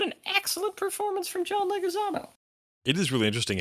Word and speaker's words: Leguizamo: But I will fully acknowledge that his performance, John, how do you pronounce his last name? Leguizamo.